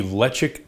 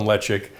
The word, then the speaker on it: Ledaig: We'll be trying the Ledaig 10-year. And yes, I know the pronunciation doesn't sound anything like the spelling, but hey, that's Gaelic for you. So a little bit of information on Ledaig.